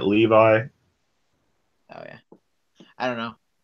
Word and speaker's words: Levi: seven seas oh man I always pronounce that name is levee for some reason and it just gives the character I guess more of a thing instead of pronouncing it Levi oh yeah I don't